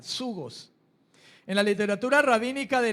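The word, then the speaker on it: ζυγός: Pero Jesús también pronunció la palabra yugo, en el griego zugos, con Z, zugos.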